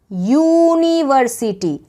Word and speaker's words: university: अगर कोई नाउन, कोई भी नाम जो एक वॉवल से स्टार्ट होता है, लेकिन बट इट्स प्रोनाउंसिएशन, उसका जो प्रोनाउंसिएशन है वो किसी कॉन्सोनेंट की तरह साउंड करता है, यानी कि यूनिवर्सिटी, साउंड YU, ऐसे यू करके निकल रहा है, यू, य